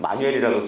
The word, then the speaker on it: 모뉴엘: 모니엘이라고 지금 사실 그 미국 외국 사람들도 이 글씨를 모니엘이라고 잘못 읽습니다. 왜냐하면 합성어기 때문에 못 읽는데요. 미국 그 사람들은 마뉴엘이라고 조금 있습니다. 근데 한국 발음으로는 저희가 모니엘이라고 하는데요.